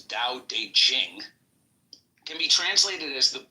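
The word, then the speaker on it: Dao De Jing: book you're referring to the DA Ching pronounced more or less da de Jing can be translated as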